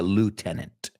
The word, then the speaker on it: lieutenant: Se pronuncia lieutenant, right? Pero se escribe lieutenant. It's crazy. It's a pretty crazy spelling there.